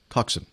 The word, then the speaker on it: coxswain: British nautical term now I'm gonna mispronounce this I want to say coxswain coxswain but how would you pronounce coax and Coxson thank you like when crew